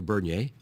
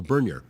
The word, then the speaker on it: Bernier: Leo Bernier. Now, I always heard his name pronounced two ways. One, the more French way, Leo Bernier. But people, I think, in Northern Ontario also called him Leo Bernier.